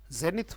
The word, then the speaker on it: zenith: अगर इसके उच्चारण में आपको दिक्कत हो तो यहाँ पे हिंदी में मैं लिख देता हूँ जेनिथ। जेनिथ थ साउंड आता है तो जेनिथ साउंड है बेटा इसमें।